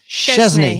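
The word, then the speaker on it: Szczęsny: It's got the sh, hasn't it? That's it. Yeah, so it's Szczesny, isn't it?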